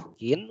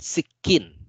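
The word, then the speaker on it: سكين: Sakin walakin sikin ya, bukan sakin bacanya tapi sikin.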